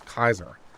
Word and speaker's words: Caesar: supposed to be pronounced it's not caesar it's kaiser i'm gonna be really